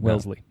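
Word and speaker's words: Wellesley: and well Welsley yes wait Welsley or or wesle not Wesleyan Welsley like the Vanguard mutual fund I remember this is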